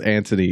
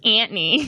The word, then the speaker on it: Anthony: i'm not crazy though it is antony it's spelt anthony though i think so that's what i think i'm pretty sure everyone says antony yeah oh my gosh i have this and my horrible like almost philly accent says anthony we're speaking of the